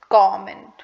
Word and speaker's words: comment: The correct pronunciation of the word is comment. So if someone comments on your post, they comment, not comment.